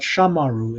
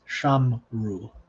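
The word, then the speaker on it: שמרו: on screen here sham it's not shamaru it's sham ru so and then a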